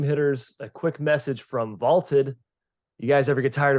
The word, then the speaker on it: VLTED: and story predictions now that's v-l-t-e-d pronounced vaulted check them out interesting